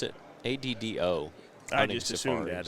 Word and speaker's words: Addo: Addo? Did he ever pronounce it? ADDO.